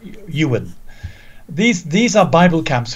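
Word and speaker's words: Iwerne: on to the camps so these camps called Ewan spells yes is this great guy looking for else IW IW e RN e but but pronounced you will these these are Bible camps forever for young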